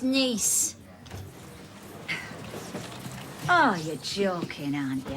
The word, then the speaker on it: Nice: R nice was it oh silly Brian it's pronounced nice oh you're joking aren't you have they let